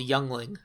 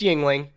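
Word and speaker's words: Yuengling: It is appropriate that you're drinking a beer called Youngling. It's pronounced Yingling, but yes, Younglings.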